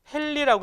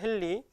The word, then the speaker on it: 헨리: 이 H는 헨리라고 읽어요. 헨리.